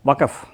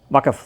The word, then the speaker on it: வக்பு: முதலாவதான விஷயம் வந்து இந்த வக் சட்டம் வக்கப் ஐ திங்க அதான் கரெக்ட் உச்சரிப்புன்னு நினைக்கிறேன். கரெக்ட் வக்கப் தான்.